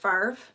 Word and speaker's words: Favre: always is favre because brett favre's last name is f-a-v-r-e how is that pronounced farv i mean in any you know english lessons i've ever known that could not possibly be pronounced that way but it's not an